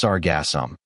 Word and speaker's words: Sargassum: Sargassum, pronounced Sargassum, is a group of brown, free-floating algae.